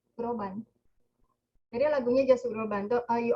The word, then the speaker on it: Groban: Apa sih bacanya? Groban.